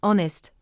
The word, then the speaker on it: honest: The letter H is silent in honor, honorable, honest, hour, hourly, heir, and heiress.